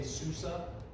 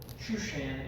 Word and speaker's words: Shushan: your battles might say Susa Shushan is the proper hebrew pronunciation that's actually what it's